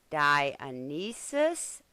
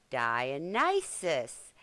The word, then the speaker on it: Dionysus: I was so busy reading my little notes, I mispronounced the Greek god's name. It should, instead of whatever I said, it's supposed to be Dionysus or Dionysus.